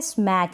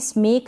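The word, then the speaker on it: smack: फिर ये है स्मैक, इसको भी स्मेक ना पढ़े, स्मैक पढ़े।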